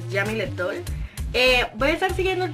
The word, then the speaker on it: Jeamileth Doll: Ella lo pronuncia como raro, pero es Jamile Doll.